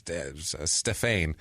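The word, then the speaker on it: Stéphane: La uh Stef stefane his name is stefane it's Stephanie without an ey really is what it is how it's spelled yeah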